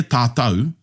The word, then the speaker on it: tātou: Once again, just reiterating that the AU sound developed here in Aotearoa is uniquely Māori. You won't hear tātou pronounced in any other Pacific Island language.